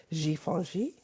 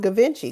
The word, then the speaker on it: Givenchy: You know, hell, before I knew anything, I never knew how to pronounce Givenchy. I used to call it Gavinci because that's what it looks like to me.